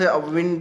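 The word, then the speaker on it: wind: एंड A sharp north विंड, विंड होता हवा, वाइंड नहीं कहेंगे विंड कहेंगे, वाइंड तो चाबी भरना होता है, विंड होता है हवा, इसी स्पेलिंग में।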